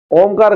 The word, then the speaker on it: ओम: ओम का उच्चारण होते समय हमारा मानो लंबा रेचक ही होता है।